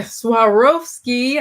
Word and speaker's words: Swarovski: walking cane royal champagne gold with sword voskey suarovaski alright swarovski i said just spelling it all foreign of crazy aren't they the suarvo swarovski swarovski crystals i know what those crosses crystals